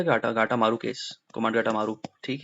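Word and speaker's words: Komagata Maru: Who hired कोमाट गाटू था ना spelling, तो इसका के ओ, कोमाट गाटा, गाटू था, गाटा गाटा मारू केस, कोमाट गाटा मारू।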